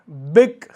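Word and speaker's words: bilk: बिग इसमें L silent होता है।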